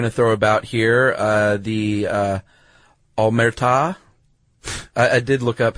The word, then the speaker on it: Omertà: The Omertà is the code of silence. Really? That's how you pronounce it? Yeah, ta is the emphasis is on ta.